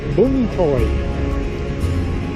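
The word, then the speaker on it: Vũng Tàu: It's supposed to be bung rather than bung, but then it's supposed to be bung is actually the correct pronunciation. Vung Tau.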